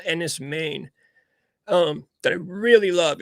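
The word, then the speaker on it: Enys Men: makes me think of there's this movie called Enis main um that I really love it's NIS main it's spelled e n Ys space and then Meen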